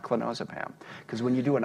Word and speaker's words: clonazepam: I'm incredibly happy after going through my clonazepam. By the way, that's one of the great things about doing the audio book. I learned that it's clonazepam, not clonazepam.